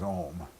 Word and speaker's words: Om: There's two mantras I love, which one is Om, and if it's pronounced correctly, it's you know, A-U-M, and it vibrates your heart, by the way, if it's pronounced correctly.